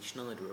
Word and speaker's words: Sneijder: No last-minute Wesley Sneijder arrival. Sorry, that's how you pronounce it.